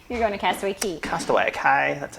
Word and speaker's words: Castaway Cay: Castaway Cay, that's how you say it.